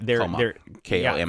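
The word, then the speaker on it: 4コマ: They're Koma. four coma. Yeah, that's what I said that. I think it's pronounced comma, isn't it?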